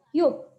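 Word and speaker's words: 육: Nah, ini bacanya adalah yuk.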